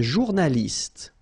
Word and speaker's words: journaliste: Un journaliste. Same thing here. You know, final only gives you the t.